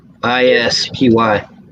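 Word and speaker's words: ispy: redo this agreed you like movies ipsy sb i-s-p-y i like you call me a big brother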